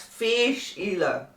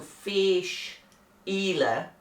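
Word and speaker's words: Fèis Ìle: fish ela 2021 and that's fish ela for those of you that wonder how to say it because it's f e i s and the e has got um a graph on it so that means it's an elongated vowel so fish ela and in the past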